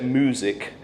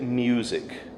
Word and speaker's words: music: And that's because the first vowel has a huge shift from an e to an oo. You don't say music, you'd say music. Okay? So it's just about how you shift between an i ooh music.